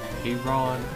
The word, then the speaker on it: Aron: I just say it like Acorn, except without the C. So it's Acorn, Aron.